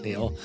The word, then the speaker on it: Keneal: The K is silent, Neil.